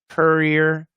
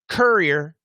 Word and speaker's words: courier: So I'll just say them for you guys. Korea. This is American pronunciation. Korea, Korea, career, career, career, carrier, carrier, carrier, courier, courier, courier, curry, curry, curry.